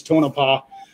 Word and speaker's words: Tonopah: It's in a town called Tonopah, or Tonopah, however it's pronounced. I think it's Tonopah, and it is literally right at about the halfway point between Vegas and Reno.